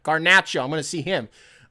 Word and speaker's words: Garnacho: Garnacho. Not Nacho. Don't do that. Garnacho.